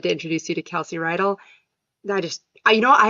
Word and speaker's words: Reidl: your last name Kelsey you actually pronounced it perfectly most people say ryell because they've watched Greece before and the high school is ryell high so I usually get that but you said it right it's like a horse